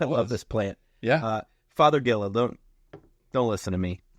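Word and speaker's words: Fothergilla: yeah okay well love this plant yeah uh father Gilla don't don't listen to me it's not Daddy but father f o t h r pronounced father father Gilla uh not native that's fun yeah yeah that's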